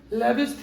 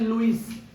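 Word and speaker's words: Lewis: हाँ जी, अब हेडिंग करिए लेविस theory, लेविस acid base theory, Hindi में बोलते हैं लुईस, प्रोनाउंसिएशन थोड़ा अलग अलग है दोनों में।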